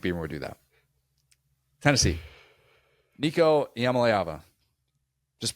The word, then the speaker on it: Iamaleava: Nico Iamaleava. Just pronounce it.